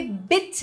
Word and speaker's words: bitte: alemão é muito simples é só você dizer bit é um I curto tá e você vai ver que tem dois t aí mas esse dois t não tem uma pronúncia né você não tem que dizer B tá você vai só dizer B Ok então é só a pronúncia de um t aí Então repita aí